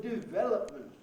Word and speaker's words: development: development oh here the number of times i've heard the word development with the stress on the first syllable goodness knows why it's